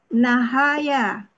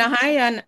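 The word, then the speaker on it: نهى: Akar kata nahaya. Pola ifta'ala. Bacanya jangan nahayan. Akar kata nahaya dibaca naha gitu.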